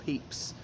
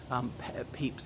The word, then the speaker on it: Pepys: of his descendants who says the cirno's pronounced purpose not peeps but I mean ever and ever and apart from that pronounce it peeps if I said pekus to you you wouldn't know who I was talking about anyway so he was